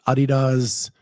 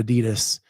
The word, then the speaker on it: Adidas: So Ken, you're talking about the Adidas. I can't wait. I love the look of them. Jay Birch, when did the pronunciation change?